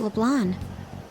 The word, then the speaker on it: LeBlanc: How about LeBlanc? I'm pronouncing it with the C at the end. I'm not gonna... I haven't been pronouncing it with the silent C.